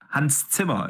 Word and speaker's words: Hans Zimmer: Hans Zimmer is actually how you pronounce it properly.